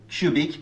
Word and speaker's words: cubic: les deux extraits audio, elles respectent bien la règle du contexte de tension vue dans la dernière vidéo, qui dit qu'une voyelle U devient tendue lorsque suivie d'une syllabe accentuée ou non, comme dans le mot music.